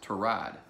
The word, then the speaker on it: Tyrod: Taylor Tyrod Taylor its tie rod one thing tie rod is one name now it's been now apparently it's pronounced tie rod his real name is Tirat but so many